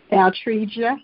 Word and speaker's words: Altregia: Altregia, but you said it right.